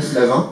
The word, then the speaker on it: Flavin: On ne peut pas parler de lumière sans parler de Dan Flavin, Flavine, après au choix, c'est comme vous voulez, moi je prononce à la française, Dan Flavin, qui est un artiste